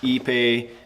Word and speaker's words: ipe: It's Ipe in our neck of the woods, if you want to say it properly.